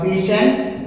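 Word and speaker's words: patient: बी, यानी कि द पेशेंट will, देखो ये पेशेंट होता है, वो सारे लोग टी पढ़ते ना, टी इसमें साइलेंट होता है बच्चों, टी इसमें साइलेंट होता है, याद रखना मेरी बात को।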